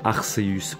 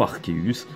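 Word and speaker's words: Arceus: qui n'est autre que arseus ou harkis us tout dépend comment vous vous le prononcer mais jeudi les deux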